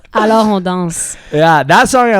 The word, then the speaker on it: Alors on danse: I said it right, no? Just not as French. Sorry, I don't say it like Daniel Galarno. Alors on danse.